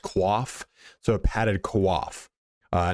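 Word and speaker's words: coif: is the padded you might call it a qu it's actually pronounced quaf so a padded quaff uh now the quaf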